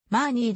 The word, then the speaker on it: マーニー: して知られる日本で何と表記するのはヨーロッパ経由で伝来したために生じた不正確な読み方で原音に忠実な読みではマーニーであるが本項目で